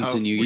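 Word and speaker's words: Kintsugi: Oh, Kinsunugi.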